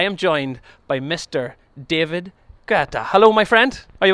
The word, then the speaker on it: Guetta: Now, we have arguments in our office about the pronunciation. Guetta.